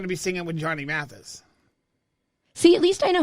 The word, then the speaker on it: Mathis: And before you know it, it's going to be Christmas, and I'm going to be singing with Johnny Mathis.